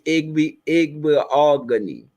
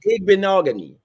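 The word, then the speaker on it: Igbinoghene: The correct pronunciation is Igbeogany.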